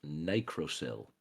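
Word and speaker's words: nicrosil: It is pronounced nicroil.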